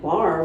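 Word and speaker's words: barre: friend of mine said you should teach bar like bar what's that and it's spelled b-a-r-r-e which is basically long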